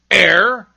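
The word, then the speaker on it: heir: Other words that begin with silent H are honor, air, and honest.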